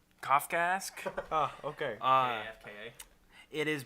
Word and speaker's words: Kafkaesque: Kafkaskwa. Not how you say That can't be right. Kafkaesque.